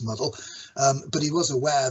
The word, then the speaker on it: Muddle: Um then he wrote um the a programming language called muddle not mdl which was actually pronounced muddle.